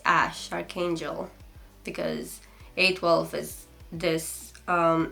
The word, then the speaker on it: Æ: zing is it X ash Archangel because a12 is this aircraft name something Archangel and then that letter is pronounced ash so you don't actually